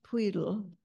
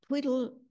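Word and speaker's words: Pwyll: and it is pronounced as if you put your tip of your tongue at the front of the roof of your mouth right behind your front teeth and goats again got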